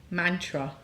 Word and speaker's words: mantra: say that word Mantra there's no youu it's not M it is short a is uh a short it looks like the same size a as all the others it's not a long a ah actually long a